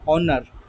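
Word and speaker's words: honour: vowel आ रहा है ऑनर आवर honest तो यहां पर एच का आवाज साउंड जो है वो साइलेंट है उसका आवाज जो है साइलेंट है एच अपना साउंड प्रोड्यूस नहीं कर रहा एच जस्ट लगा हुआ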